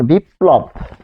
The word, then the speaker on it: বিপ্লব: যেমন বিপ্লব। বিপ্লব, তাহলে মাঝখানে বসছে, এখানে প হসন্ত যুগ ল, এটি উচ্চারণ হচ্ছে বিপ।